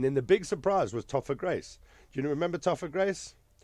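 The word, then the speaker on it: Topher Grace: Grace was the guy I don't know if that's how you pronounce his name it's spelled t pH so I think it's pronounced topper Grace here we go topper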